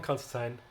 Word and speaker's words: Constantine: And yeah, John Constantine, not teen but Tyne, he's English.